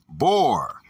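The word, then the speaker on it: בור: Okay, 877, the Hebrew word is bor, pronounced bor, from Hebrew number 874.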